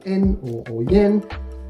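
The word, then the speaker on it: 円: on to number three this one here often pronounced en is basically what is used as a dollar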